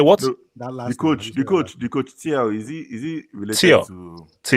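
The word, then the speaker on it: Thiaw: The coach, Tiao, is he related Tio. to It's not the Chow. guy? Chow. Is he- It's Chow. It's Chow. Whatever. Is he related to the guy in Germany? Yeah, it's Yeah.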